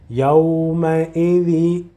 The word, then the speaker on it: يومئذ: Pronounce the last letter with kasra. Yawma'idhi.